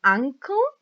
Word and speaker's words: ankle: Then we have legs, your knees, your ankle is the same pronunciation as uncle on your family, right?